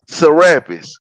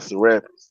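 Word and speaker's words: Serapis: Therapist or Sarapus, however they pronounce. I call it Sarapus.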